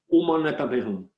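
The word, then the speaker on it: Om Mani Padme Hum: Donc, si on l'écrit, si on le prononce vraiment en sanskrit, ça donnerait quelque chose comme Aum Mane Padme Hum. Mais les Tibétains le prononcent Om Mane Padme Hum.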